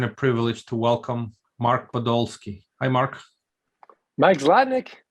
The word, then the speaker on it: Podolsky: my pleasure and a privilege to welcome mark podolski hi mark mike zladnick how are you oh